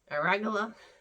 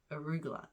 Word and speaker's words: arugula: good um so the aragola arugula um this is see it's even harder to say when i like can't talk properly aragola arugula arugula that's how you say it but i can't